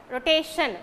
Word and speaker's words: rotation: have to count the second syllable and second syllable take the stress for example uh rotation okay rota ti1 rotation it's a three syllabic